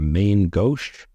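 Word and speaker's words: Main Gauche: maybe least we have main go pronounced go I looked it up go same name as the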